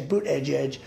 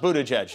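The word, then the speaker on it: Buttigieg: and then boot Edge Edge as you say boot Edge Edge uh cold and I guess two days late though yeah when in doubt mispronounced Buddha judge that's how you do it 78 years old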